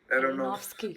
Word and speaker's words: Aronofsky: Ar- Ar- Aronofsky.